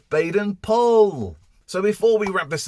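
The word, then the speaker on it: Baden-Powell: new on founders date we've been calling baden powell wrong it's baden paul so before we wrap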